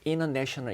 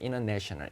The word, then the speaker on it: international: international 이런 거 할 때도 뭐 혀를 굴려가지고 international 이렇게 하는 게 아니고요. N하고 T가 어차피 혀가 같은 위치에서 나기 때문에 그냥 T 사운드 안 내도 되는 거예요. international 이렇게 해도 되는 거예요.